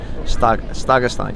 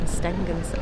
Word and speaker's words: Stegastein: Stegastein. Yeah, I'm saying it right. Yeah, you were saying Stengens. Oh, I was saying Stag. It's Stegastein Viewpoint.